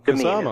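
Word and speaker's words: Qasama: And the Kasama, is the correct pronunciation.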